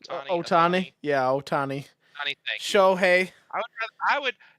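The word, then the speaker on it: Ohtani: rather see shui oani is that how to pronounce his last name Otani yeah oh ton show I ra I would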